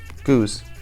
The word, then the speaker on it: Geuze: Pronounce G-O-O-Z. Geuze.